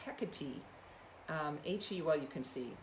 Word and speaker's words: Hecate: And today I'm really bringing in, and she wanted to be heard, Hecate. How I've always said her name, but when I actually recently went and looked at the Greek pronunciation, it's Hecate.